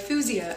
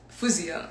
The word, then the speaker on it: Faouzia: don't know why like they would be like fouseya no how do i say it like they'd be like oh how do you actually say it and i'd be like physio and then they would